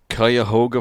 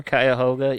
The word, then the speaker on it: Cuyahoga: was born on january 31st of 1949 in cuyahoga falls i think i'm pronouncing that i believe you are cuyahoga yeah in ohio and uh the first of